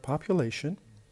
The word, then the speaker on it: population: 3rd column because it has 4 syllables, and the stress is on the 3rd because we have ION, so the stress is before the last.